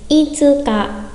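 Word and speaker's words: 五日: Itsuka, itsuka.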